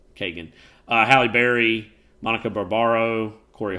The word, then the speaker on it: Keoghan: Chris Hemsworth's the star, Mark Ruffalo, Barry Keoghan. How do you say that? Like Kagan. Yeah, I don't know. I always add extra. Yeah, Kagan.